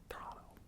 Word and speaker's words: Toronto: Or is it Toronto? Toronto. The Torontoites, they always try to pronounce their city's name with the fewest syllables or vowels as possible.